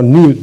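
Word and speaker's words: ν: Buna nü diye okunuyor.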